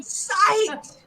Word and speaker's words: psyched: It's like psychology, only short.